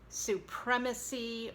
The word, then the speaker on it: supremacy: Unlike with supreme, as in Supreme Court, but then when we're talking about supremacy or supremacist, as in white supremacy or white supremacist, you have a short E, and the accent is on the prem, supremacist.